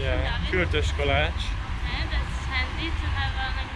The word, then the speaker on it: Kürtőskalács: What's the right pronunciation? Yeah, Kürtőskalács.